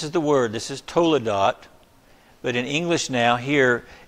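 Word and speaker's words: toledot: word generations and Hebrew it's Tola dot Toula dot and if you were to write that out let me just put it this way totally dot okay that's that's the way you'd say it phonetically in English but again this word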